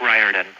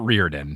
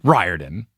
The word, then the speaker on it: Riordan: my name is rick riordan long eye like in rye bread long eye like in rye bread it's not rearden ryered it riordan right yeah the amount